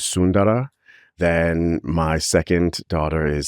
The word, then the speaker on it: Sundara: So my children's names are Sundara, or the more traditional pronunciation is Sundara.